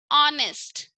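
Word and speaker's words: honest: ठीक है, ऑनेस्ट को कैसे प्रोनाउंस करेंगे हम? एक्ट होगा, ये इसमें साइलेंट होगा। Okay, just remember वन thing, H silent होगा यहाँ पे। कैसे रीड करना है इसे? ऑनेस्ट, ऑनेस्ट का डिसऑनेस्ट।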